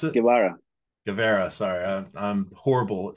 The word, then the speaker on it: Guevara: His name is Guevara, right? That's how you pronounce it? Guevara.